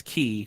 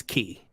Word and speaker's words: X: Whenever you see an X in a Kingdom Hearts game, it means key, like CHI, key. Oh, like chi. Yeah, but it's pronounced key.